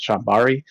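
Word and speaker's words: chambara: i think it's i think that's how you pronounce it chambari c-h-a-m-b-a-r-a uh kind of like a sword fighting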